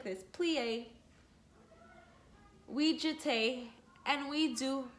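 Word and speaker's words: plié: like that we plie you say like this plie we jute and we do many praise bravo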